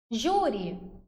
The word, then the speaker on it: Júri: Júri, separo aqui, beleza? Igual eu fiz aí para vocês na tela. E termina em I. Portanto, paroxítona acentuada. Paroxítona por quê? Porque a sílaba mais forte é o Ju.